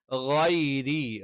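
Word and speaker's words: غَيْرِ: ഗൈരി, ഗൈരി, ഗൈരി എന്ന് കറക്റ്റ് പറയണം. ഗൈരി എന്നുള്ളത് എന്ത് ചെയ്യണം? കൃത്യമായിട്ട് നമ്മൾ എന്ത് ചെയ്യണം? ഉച്ചരിക്കണം. ഗൈരി എന്ന് പറയുമ്പോൾ ശ്രദ്ധിക്കേണ്ട കാര്യം എന്താണ്? തൊണ്ടയുടെ മേൽഭാഗത്ത് നിന്നാണ് ഗൈരി, ഗ എന്നുള്ള ഉച്ചാരണം വരുന്നത്.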